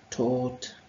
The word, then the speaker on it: taught: Tak ještě tady mám takovou poznámku, že opravdu to O, U, G, H, T, těch spoustu písmenek se vyslovuje jenom jako od. To znamená, že tam říkáte dvě hlásky a píšete jich tam pět. Takže pozor na to. A vlastně vidíte, že písmenka G, H, to G, H, se tam vlastně vůbec nevyslovuje.